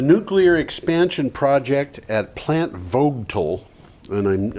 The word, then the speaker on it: Vogtle: The nuclear expansion project at Plant Vogtle, and I'm never sure how that's supposed to be pronounced. I think it's Vodal.